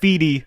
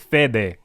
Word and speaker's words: Fede: can't pronounce his name it's not fedi I've heard you guys say fi it's fed say it with me fed fed fed I like Fey better